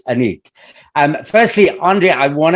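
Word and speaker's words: Anek: interview okay so firstly um the film is pronounced anik right yes okay good because i was having this big my mom was like i'm sure it's a nick and i was so we were having this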